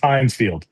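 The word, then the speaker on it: Heinz Field: It's pronounced Hinesfield.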